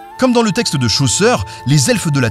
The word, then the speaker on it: Chaucer: Comme dans le texte de Chaucer , les elfes de la Terre du Milieu sont un peuple ancien voué à disparaître peu à peu.